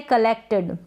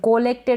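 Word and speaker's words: collected: Next है कलेक्टेड, कलेक्टेड। कोलेक्टेड ना पढ़े, कलेक्टेड यानी कि इकट्ठा किया, कलेक्टेड।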